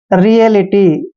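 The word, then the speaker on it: reality: देखिए आर का उच्चारण रे करते हैं और ई को ई की मात्रा पढ़ते हैं और ए का उच्चारण ए करते हैं और एल आई टी वाई का उच्चारण लीटी करते हैं। रियलिटी, रियलिटी।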